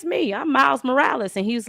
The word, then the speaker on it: Morales: I'm Miles Morales." And he's like, "You mean Miles Morales?" And he's like, "No, Miles Morales." He's like, "Miles Morales, you're supposed to roll your Rs."